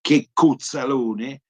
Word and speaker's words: Checco Zalone: Luca Medici si chiama in realtà, l'avvocato Luca Medici, in arte Checco Zalone, che diciamo con pronuncia barese suona Checco Zalone, cioè che diciamo così sbruffone, cretino e assolutamente incapace, e la battuta è autoironica.